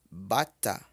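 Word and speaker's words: bàtà: Quando tem esse tracinho em cima, apontando para trás, que é a nossa crase, significa que essas vogais têm que ser pronunciadas em tom baixo, tom de voz baixo.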